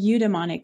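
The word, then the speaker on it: eudaimonic: i c and then emonic which is spelled e u d a i m o n i c emonic amazing okay so that's really interesting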